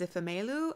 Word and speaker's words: Ifemelu: The narrator pronounced the main character's name is Ifemelu and Obinze, so I think I might try